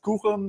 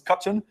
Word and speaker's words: Quchen: I'm known as Kuchen, or sometimes pronounced as Kutchen.